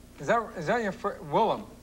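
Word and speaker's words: Willem: Right, Originally, Wilhem. when I got the nickname, I spelled it phonetically, and then I found out later that it's a very common Dutch name.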